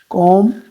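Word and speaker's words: comb: कॉम, जिसमें से B silent है।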